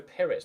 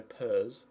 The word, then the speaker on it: Perez: Yeah, it's Bruno Perez, not Bruno Pers or Purse.